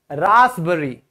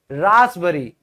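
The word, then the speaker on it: raspberry: यहां पे भी पी साइलेंट होगा। रासबरी। रासबरी।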